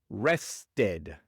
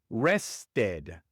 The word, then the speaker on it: rested: Y al final del verbo rest se pronuncia tanto la e como la d. Rested. Rested.